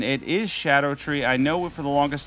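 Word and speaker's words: Scadutree: an amazing Ash of War even on the shadow tree Avatar and by the way I've mentioned this before but those that don't know or aren't up on the current pronunciation it is Shadow tree I know for the longest time we were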